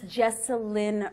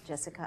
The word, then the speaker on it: Jesselyn: so sorry God everybody it's jesselin radic she was courtious enough not to correct me it's not Jessica I beg your pardon